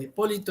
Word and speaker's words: Hipólito: vocal ahora Hipólito correcto Hipólito es esdrújula hipolito es Hipólito Esta es la respuesta es